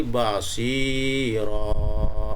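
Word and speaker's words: بصيرا: Cara membaca menjadi basiro. Nah, itu seperti itu. Ya. Basiro panjang.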